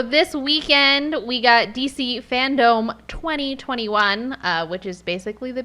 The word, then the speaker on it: Fandome: My question is, why is it Fandome? I don't Fandom? know. Like Kingdom? Yeah, No, it's spelled dome, like D-O-M-E. like in a dome.